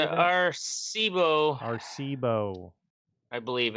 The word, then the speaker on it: Arecibo: Arecibo. I believe it's pronounced.